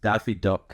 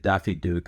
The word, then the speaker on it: Daffy Duck: So, it was in the show and I remember I I mispronounced Daffy Duck at some point. I said Daffy Duke and then he busted my balls for saying Daffy Duke and then we pretended